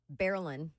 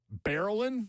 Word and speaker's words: Barilin: Barilin. Barilin. Like Marilyn.